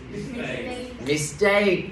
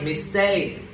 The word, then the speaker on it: mistake: Mistake là chết rồi. Mistake. Nhấn vô âm thứ hai. Mistake.